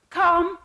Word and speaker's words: calm: Calm, calm, the L is silent.